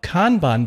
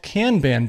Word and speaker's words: Kanban: talk a little bit about Kanban boards or maybe they're called Kanban boards apparently both pronunciations are pretty well accepted feel free to let